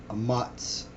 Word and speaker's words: Ahmatz: This first word here is Ahmatz, or Ahmatz.